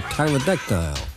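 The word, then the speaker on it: pterodactyl: winged freak is a tyrodectile an extinct giant bird with a silent pee who the hell is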